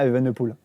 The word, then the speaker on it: Evenepoel: Pologne avec, comment il s'appelle, le petit Remco Evenepoel. T'as vu, je prononce bien Evenepoel.